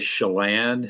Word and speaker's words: Chelan: turn to your work at i hope i pronounced this right chilin county public utility district could you first tell our audience they may not know where chilean county is so could you tell us geographically